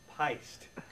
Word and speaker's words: Pyst: It's pronounced Pyst. Okay? It's pronounced Pyst. Whoa! I'm pissed. P-Y-S-T. It rhymes with heist.